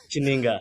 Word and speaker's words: Chininga: Did I pronounce that name properly? Chininga, yeah, almost.